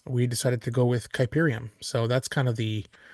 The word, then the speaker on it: Kuiperium: partner Steve Castle um it's pronounced kyberium and um you know